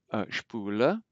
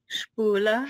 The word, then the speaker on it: Spule: SP is pronounced like it as if it were SHP. So let's read some of these. Spule. Spule.